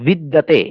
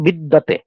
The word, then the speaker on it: বিদ্যাতে: আবার বিদ্যাতে, এটা হচ্ছে উচ্চারণ আমরা বাংলা করি কি বিদ্যাতে, আর যখন এটা সংস্কৃত উচ্চারণ করবো তখন কি হবে, বিদিয়াতে।